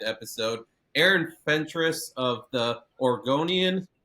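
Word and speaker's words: Oregonian: Aaron Fentress of the Orgonian. And I kept saying Oregon compared to Organ. Apparently, that's how you say it, Oregon.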